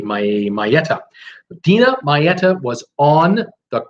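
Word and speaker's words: Maietta: I got a message today from Dina, and I will try to pronounce this last name. It's Maieta. I'm going to do my best. It's M-A-I-E-T-T-A, Maieta.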